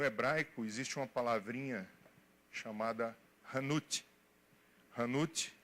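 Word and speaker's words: חנות: No hebraico existe uma palavrinha chamada hanut. Hanut é a palavra mercado, ou fazer negócio, ou transacionar. A palavra mercado é hanut. Se escreve com CH, chanut.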